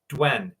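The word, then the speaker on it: duende: it's spelled D U N D, but it's pronounced Dwen.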